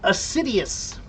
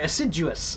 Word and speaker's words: assiduous: Acidious. Um or no, I'm sorry. Aciduous. Aciduous. Not acidious. Aciduous.